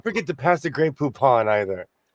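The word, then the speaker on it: Poupon: Okay, we need to work on your pronunciation because that was poop on instead of poopon.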